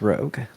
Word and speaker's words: ROG: I think it's rogue.